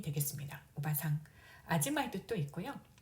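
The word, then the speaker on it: おばさん: 그 다음 이모, 고모, 숙모 다 오바상이 되겠습니다. 오바상. 아줌마의 뜻도 있고요. 발음은 오바상, 할머니와 좀 비슷합니다. 할머니 오바상은 장음이고요. 오바상 단음이 되겠습니다.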